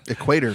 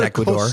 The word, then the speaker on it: Ecuador: Equator. How do you say that again? I think it's Ecuador. It is.